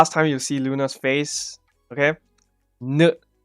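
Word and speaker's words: ん: Yes, you can see as a H, whatever you want, but the pronunciation is n. Right? You will not pronounce it as a H in Japanese. It's an n.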